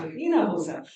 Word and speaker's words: Hinojosa: Hinojosa.